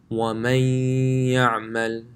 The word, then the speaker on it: وَمَن يَعْمَلْ: So the noon will join with the ya. So this will sound like وَمَن يَعْمَلْ. The noon and the ya are joined together. وَمَن يَعْمَلْ مِن نَاصِرٍ.